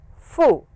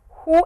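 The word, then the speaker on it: ふ: Now you will notice this sound is somewhat who and somewhat fu. So whichever is easy the actual sound is who as you blow air out.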